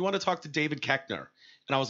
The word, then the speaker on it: Koechner: The O-E is not a short E sound, but that's the way we say it.